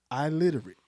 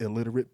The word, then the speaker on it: illiterate: But to use that and frame it as the full word, I literate, but just, yes, it's pronounced illiterate, but we get what you're saying. Yeah. I literate like I can't spell it.